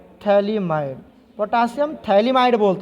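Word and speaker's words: phthalimide: इसको हम लोग बोलते हैं पोटासियम सॉल्ट ऑफ थैलिमाइड।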